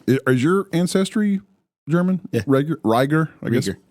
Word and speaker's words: Rieger: is your ancestry German riger I guess is it pronounced Rieger yeah so you know you pronounce the second vowel okay why are you